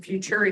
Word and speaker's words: Futuriti: what is now futur futur. I never say it right. Rhymes with maturity.